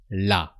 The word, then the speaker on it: la: So you have really to pronounce the la, the a of la, la.